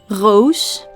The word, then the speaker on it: roos: In the southern part of the Netherlands, we pronounce the R as a throat noise, the so-called French R, roos.